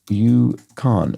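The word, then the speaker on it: UConn: And school name that sounds like a Canadian territory. Sounds like, but presumably is not spelled like. Yukon, is there a school? Yeah, no, I see. Yes, University of Connecticut. Yukon.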